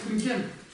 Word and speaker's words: ཀུན་མཁྱེན: То есть это будет не «кун», а если смягчить, что получается? «Кюн». Получается «кюн».